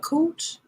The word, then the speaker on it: Cooch: Yeah, Cooch. It just it's so it rhymes with coochie, so it's like, oh, I don't want to offend her, but that's her last name, Cooch.